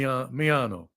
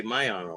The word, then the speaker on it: Miano: pronouncing it it's me I say me meano a lot of people say myano right some I think